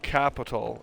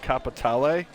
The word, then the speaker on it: Capitale: It's not called Capital. It's got a flair to it. It has an E at the end of it, so at least the way Rockstar pronounces it is it's called Capitale. Capitale. Yeah, because it's Italian, I guess. Or at least it's supposed to be.